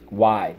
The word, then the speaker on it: wide: Silent E, wide.